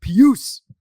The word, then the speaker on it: Pius: of my fun facts it's pronounced puce oh they mentioned that on